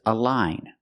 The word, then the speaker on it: align: This word is a line. So it's following the rule. The gn at the end has a silent g and you have the long i sound.